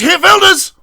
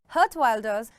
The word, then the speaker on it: Geert Wilders: It's Geert Wilders! Or is that orange? No, not him. It's this guy, whose name no English speaker seems to be able to pronounce. Geert Wilders.